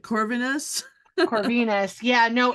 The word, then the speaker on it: Corvinus: and um how do you say your names corvinus is that right corvinus yeah Venus Yeah Yeah so basically I learned